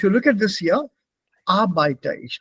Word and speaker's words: Arbeiter: Here you said Arbeiter, don't pronounce the R.